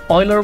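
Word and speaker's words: Euler: Oiler is pronounced Oiler, not Uler.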